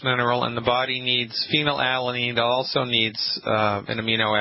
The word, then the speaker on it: phenylalanine: Did I pronounce it? Yeah, phenylalanine.